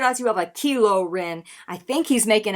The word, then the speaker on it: Kylo: to war with stars as you offer a kilo oh you ain't scared when you tried to